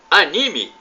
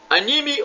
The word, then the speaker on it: anime: você sabe que é anime anime ou anime a pronúncia pode ser anime ou anime para os ocidentais é o